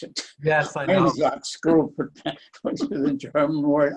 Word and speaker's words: Einsatzgruppen: First important, you have to learn how to pronounce it. Yes, I know. Einsatzgruppen, which is the German word.